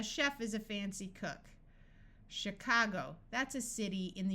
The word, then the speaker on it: Chicago: Orchestra in these words CH will sound like sh this usually happens in words that we got from French chef a chef is a fancy cook Chicago that's a city in